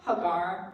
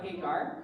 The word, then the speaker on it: Hagar: to use their slave Hagar or Hagar it's pronounced different depending on what circles you're in they decide to use